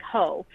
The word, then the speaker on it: io: And the greeting for Saturnalia was a Latin word that sounds like ho. So it actually like looks like an I and an O, but you pronounce it ho.